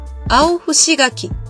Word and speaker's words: 青柴垣: 青芝柿と書いて、青伏柿と読みます。